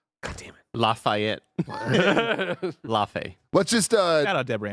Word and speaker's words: Laufey: That's how Sony Santa Monica is pronouncing this. We have two people from Sony Santa Monica saying Laufey. God damn it. Lafayette. Laufey.